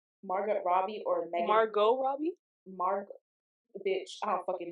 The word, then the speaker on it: Margot: Margaret Robbie or Megan Margot Robbie? Bitch, I don't fucking know. The T is silent. Why? It's T there. Because it's French.